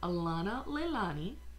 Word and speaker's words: Alanaleilani: It's pronounced Alanaleilani. Alanaleilani. It's Hawaiian.